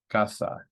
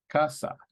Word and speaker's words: casa: in a vowel so stress is going to be on the second to last so that's here and the word is pronounced casa right Casa if we